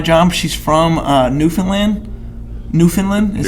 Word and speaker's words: Newfoundland: resident at my job she's from uh newfoundland newfoundland is how you say it actually and she